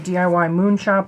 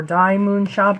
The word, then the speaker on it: DIY Moon Shop: ordered some paintings from DIY Moon shop or D Moon shop depending on how you pronounce it I'm going to go with DIY Moon shop because it is more uh natural for me so apologies to uh